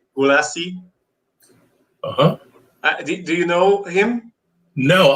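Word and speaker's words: Gulacy: it's like i don't i don't know the exact pronunciation in english because i always say it in hungarian but paul gulacci like g-u-l-a-c-y gulasi do you know him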